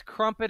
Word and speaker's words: Crumpit: not just a place it's crumpet it rhymes with dump it yeah that's it's handy